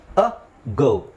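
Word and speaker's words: ago: ಪದಗಳು ಯಾವುದು ಅಗೋ ಅಗೋ ಅ ಗೋ ಸೊ ನಾವು ಇದನ್ನ ಎಗೋ ಅಂತ ಹೇಳಲ್ಲ ಅಗೋ ಅಗೋ ಅಂತ ಹೇಳ್ತಿವಿ ಸೊ ಅಲ್ಲಿ ಅತಿ ಇದೆ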